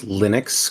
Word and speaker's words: Linux: Everybody has a history of there used to be the reason why we all pronounce Linux correctly is because in the 80s there was